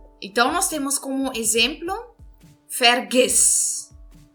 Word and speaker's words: vergiss: Então, nós temos como exemplo vergiss. Vergiss. Então, verifiquem, eu estou entonando a última sílaba. Eu estou dizendo vergiss. Esqueça. Então, eu estou entonando o I aqui, certo?